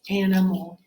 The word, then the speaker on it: animal: Okay, now that's the last syllable, and it's not stressed, so I have a schwa sound, so that's an A-L. I might have to remember that A. Okay, that might be our heart part of that word. Animal. All right, it's spelled just like it sounds, except for that A, which that follows the schwa rule.